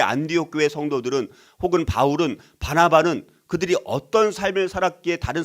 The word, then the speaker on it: 바나바: 그래서 하나님은 친히 이 바나바, 잘못하면 바나나로 발음을 하게 되어지더라고요. 바나바를 바나나라고 하지 말고 우리 바나바.